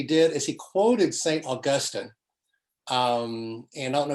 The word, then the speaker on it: Augustine: and by the way it is augustine and not augustine every time a media commentator refers to augustine's augustine because that's not really how you pronounce his name but um blind then